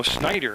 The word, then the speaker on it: Schneider: a pinch hit her so Snider is pronounced okay I was trying to